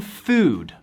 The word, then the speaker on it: food: American food. Food se pronuncia así. Food. Los vocales en inglés son muy largos.